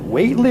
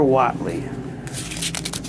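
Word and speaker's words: Whateley: You pronounce it Whately or Watley? I've always heard it pronounced Whately, so.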